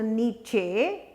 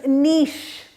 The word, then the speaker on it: niche: call a nice ehe and it is not pronounced to Nietzsche it's not open each it is not Nietzsche it is niche niche and I CH e is niche niche